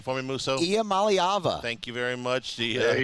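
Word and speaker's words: Iamaleava: Nico, pronounce his last name for me, Musso. Iamaliava.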